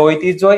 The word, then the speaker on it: ঐতিহ্য: ঐতিহ্য এটা হচ্ছে বানান তোমার প্রশ্ন আসবে যে ঐতিহ্য এর উচ্চারণটা কি মনে রাখবা দুইটা হচ্ছে যৌগিক স্বর আছে বা দ্বিসর বলা